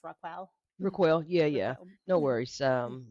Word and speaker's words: RaQuel: I mispronounced your name I said Rockell and it's rock ril yeah yeah no worries